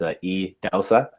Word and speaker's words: Idahosa: Just first to set the record straight, it's spelled Idahosa, but it's pronounced Idahosa.